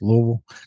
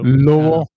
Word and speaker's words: Louisville: We are about 60 miles north of Nashville, probably about 100, 110 miles south of Louisville. Okay. If you wonder how to pronounce that correctly, it's Louisville. So, Louisville.